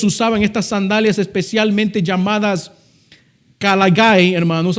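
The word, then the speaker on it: caliga: Por eso ellos usaban estas sandalias especialmente llamadas kalagay, hermanos. Así es como se pronuncia en en el latín o cáliga en el español.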